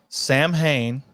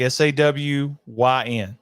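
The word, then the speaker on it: Samhain: the pronunciation is sa I'm gonna repeat that there's no m Lumis says Sam Hayne and knows all about it the pronunciation is sa like S A Wyn sin I know I'm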